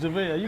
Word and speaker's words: JaVale: JaVale? Ooh. JaVale McGee from the Denver Nuggets. Yeah, it's JaVale.